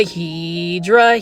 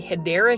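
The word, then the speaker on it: Hedera: They're kind of like the Heedra helix or the correct way to say it is the hideera helix or English ivy.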